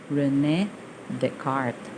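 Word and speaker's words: René Descartes: coordinate system it is proposed by rene descartes pronunciation that's rene descartes so young proponent rectangular coordinate system orientating cartesian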